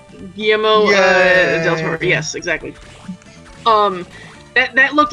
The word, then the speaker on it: Guillermo del Toro: Guillermo del Toro. Guillermo del Toro.